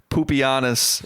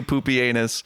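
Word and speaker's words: Pupienus: you say his name it's not even like poopy honest it is it is actually poopy anus what a guy and I love that so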